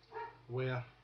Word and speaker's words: where: ERE is pronounced ERR. So ERE would be in like where, and in this case we could say air, ERR, where, which is quite confusing because of the past tense and stuff.